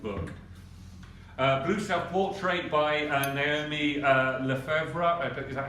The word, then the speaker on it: Lefebvre: Blue Self-Portrait by Naomi Lefebvre. Is that how it's pronounced?